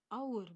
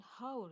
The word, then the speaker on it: hour: aiueo Nah di sini untuk our sendiri itu dibacanya our bukan How ya jadi meskipun tulisannya